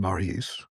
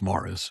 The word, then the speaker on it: Maurice: The British still pronounce the name that we pronounce in the French form, Maurice, correctly as Morris, and that's true as a surname as well as a Christian name.